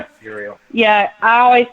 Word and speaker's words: Uriel: Uriel. Uriel.